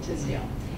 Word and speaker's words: Tisdale: Again, my name is Tisdale, and that's pronounced rather than however she said it. It rhymes with the name Lydia, and my last name, sounds like tis a season to be jolly, Tisdale.